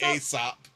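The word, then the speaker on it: Aesop: So then I was like oh wait no it's supposed to be Asop. AEO P. is how you spell it.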